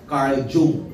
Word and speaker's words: Carl Jung: Carl Jung. Pero it is pronounced as Carl Jung.